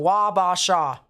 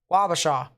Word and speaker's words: Wabasha: specifically a wabasha all right appreciate that so wabasha wabasha there we go i think i got that